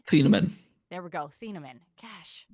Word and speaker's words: Thieneman: What do you think of Bear Alexander and Dylan Teneman? I'm pronouncing that correctly, right? Thieneman.